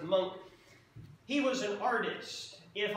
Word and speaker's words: Munch: man's name edward monk looks like munch but it's pronounced monk he was an artist